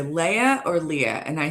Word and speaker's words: Leah: might not remember that my name is pronounced Leah but when they see me again they're gonna be like ah Star Wars Leia and then Leah right you want to